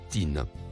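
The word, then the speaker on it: طين: Le mot en surbrillance bleue se prononce tin.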